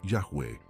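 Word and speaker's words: Yahweh: traduce como ihw eh que se pronuncia como yahwe y sabes lo que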